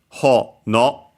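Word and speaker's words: ほのお: should write it as ho, no, and then o, not u, even though the pronunciation is the same. Because, yeah, it's a strictly Japanese word, accent on the first syllable, hono, actually a compound.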